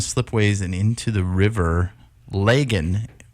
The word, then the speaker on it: Lagan: and into the river lagan is that how I pronounce it in Belfast you're Irish Belfast is log on in Ireland Oh its